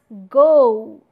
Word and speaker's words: go: So in RP pronunciation, we pronounce go as go. It's not go.